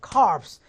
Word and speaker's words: corpse: 그래서 여러분들 코에 대해서 절대 이걸 갖다가 corpse라고 하면 해병대 시체가 돼버리는 거니까 이건 그대로 발음하셔야 돼요. corpse. P자 발음하고 이자도 빼시면 안 돼요.